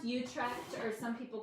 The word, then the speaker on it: Utrecht: It's got a lot of C's and H's and T's in it, but it's pronounced Utrecht, or some people call it Utrecht.